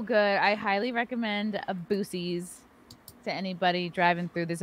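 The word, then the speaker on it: Buc-ee's: know five months and i didn't know that boosies it's spelled boosie it's spelled b-u-c-d-e-s yeah why would they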